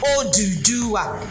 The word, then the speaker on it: Oduduwa: So it's a 4 syllable. 4 syllable in Yoruba.